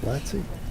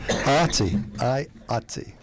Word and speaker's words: IATSE: Is it Latsy? Yeah, that's right. IATSE. Chairman. I can never get that out in one syllable.